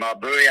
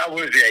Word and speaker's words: Awuzie: We have much better corners, right now with, what's his name, Abui. I can't remember if I'm pronouncing his name correctly. Yeah, Awuzie, yeah.